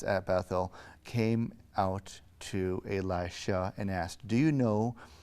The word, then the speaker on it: Elisha: familiar with these characters there's Elijah with a J and Elisha with an sh um and I will